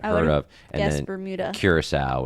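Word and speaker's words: Curaçao: So the B is Bonaire, which you may not have even heard of, and then Bermuda, Curacao, which does not look like it's spelled.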